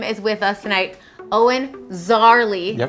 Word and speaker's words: Szarley: Owen Szarley, yep. The S is silent, but that's like a pretty fun fact to begin with.